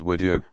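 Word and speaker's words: wudu: form a brief purification called would you pronounced woo do yo worshippers perform each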